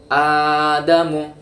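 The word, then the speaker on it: آدَمُ: Nah, kita membacanya adamu seperti itu. Adamu. Aslinya ini huruf alif ya, hamzah fathah ketemu dengan hamzah yang sukun. Hamzah atau alif itu ya. Maka kita bacanya dengan panjang dengan mat.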